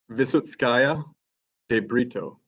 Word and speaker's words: Visotskaya de Brito: Your Honors, I'll introduce my colleague Visotskaya de Brito. She will be handling any questioning of Mr. Neesby. Can you pronounce her last name for me one more time very slowly? Visotskaya de Brito.